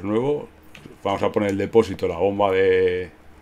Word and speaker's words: depósito: Depósito de combustible y... Vale. Vamos a comprar el depósito. Depósito. Vaya. A que tiene el acento en la O.